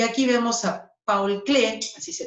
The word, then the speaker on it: Paul Klee: Bueno, y aquí vemos a Paul Klee, así se pronuncia.